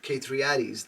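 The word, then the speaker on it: K3 Addys: of the names okay it's K number three a d d Ys okay like daddies K K3 Addies that's how she writes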